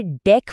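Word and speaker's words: deque: तो मिलिए डेक क्यू से। इसे डेक प्रोनाउंस करते हैं।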